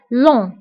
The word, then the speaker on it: long: جي ما كنتبقاش في آخر الكلمة كنقولو long.